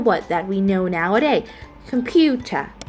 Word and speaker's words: computer: that we know nowaday computer computer computer so now you know that the word computer are the primary stress fall into the second syllable Pew which received the